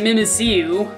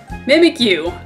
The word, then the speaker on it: Mimikyu: I guess like me I'm stupid and was pronouncing it mimu when mimic is spelled Mi m i let's just make it so everybody won't mistake that I guess mimikyu I still like it though I I really